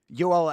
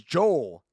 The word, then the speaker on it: Joel: His name is Joel. Because if it was the Spanish pronunciation of Joel, it would be Oel, right?